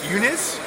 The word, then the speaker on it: Uniz: this is duel at the rapid TCC I'm Eunice Eunice right Eunice yeah I can't even pronounce things day this is whom in whom